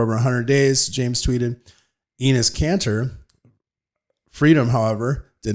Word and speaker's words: Enes Kanter: Well, so this, I just posted, it was on Breitbart, where is it Enes Kanter? Is that how you say his name? Yep. Enes Kanter.